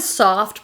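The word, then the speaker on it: Söfft: this brand this is the brand soft but spelled with two f's it's a comfort shoe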